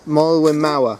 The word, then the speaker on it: Moelwyn Mawr: there isn't there up until how do you pronounce the summit more Malin Mauer that's it yeah yeah well we're Maori yeah